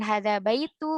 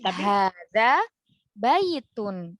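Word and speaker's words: هٰذَا بَيْتٌ: Jadi membacanya bukan hadza baitu, bukan hadza baiti ya, tapi hadza baitun.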